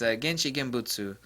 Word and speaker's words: 現地現物: So, someone's going to correct me on my pronunciation of this, but it's Genchi Genbutsu.